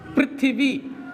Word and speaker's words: पृथ्वी: तो ये रा का उच्चारण नहीं करता, ये री का उच्चारण करता है। तभी पृथ्वी PRI बनाते हैं, प्रदीप में PRA बनाते हैं।